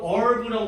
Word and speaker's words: herb: 뭐 영어 발음은 herb라고 발음하기도 하는데 herb, herb가 아니라 영국 애들이 H 발음하고 미국 애들은 이거 H 발음 안 한대요.